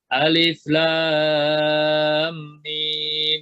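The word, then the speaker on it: الم: Alif lam mim. Habis la panjang, la-nya panjangnya 6, kalau mau digerakkan jari 6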